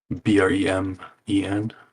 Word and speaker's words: Bremen: B R Spell it again. B R E M E N.